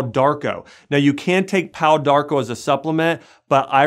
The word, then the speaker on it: Pau d'Arco: Now you can take Pau Darko as a supplement, but I recommend it in a tea form, drinking 3 glasses of Pau Darko tea a day.